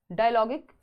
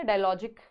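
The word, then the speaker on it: dialogic: डायलॉगिक reading या डायलॉजिक, लॉजिक तो नहीं बनना चाहिए, डायलॉगिक रीडिंग ही कहेंगे इसको, प्रोनाउंसिएशन जो है।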